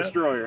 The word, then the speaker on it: Dstroyr: Now, do you pronounce that Dstroyr? Yeah, And Dstroyr. Not yeah. Destroyer.